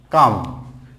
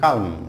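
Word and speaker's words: calm: দেন হচ্ছে কাম, কাম মানে একেবারে কোয়াইট, তাহলে এখানে কালম, অনেকে বলে কালম, নট কালম, কাম, কাম, কাম।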